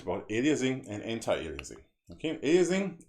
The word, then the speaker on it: aliasing: Okay, aliasing, alien, it's pronounced like alien, or almost like alien, and it has something to do with aliens.